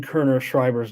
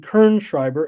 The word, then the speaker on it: Kerner Schreiber: Kerner, and I was saying Kerner Schreiber's name wrong the whole time, and he left. I was saying Kern Schreiber, and it's Kerner Schreiber.